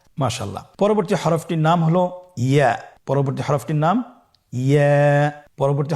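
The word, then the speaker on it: ي: ইয়ার মাখরাজ কোন জায়গা থেকে উচ্চারিত হয়? ইয়া উচ্চারিত হয় জিহ্বার মধ্যখান তার বরাবর উপরে তালুর সঙ্গে লাগিয়ে উচ্চারিত হয়। আমরা জিহ্বার মধ্যখানটাকে উপরে তালুর সঙ্গে লাগিয়ে উচ্চারণ করি ইয়া।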